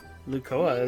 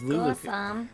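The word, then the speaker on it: Lucoa: Lukoa, is that how she said it? I thought it was Lukoa. Oh, I think I remembered her name wrong. I guess it's Lukoa, my bad.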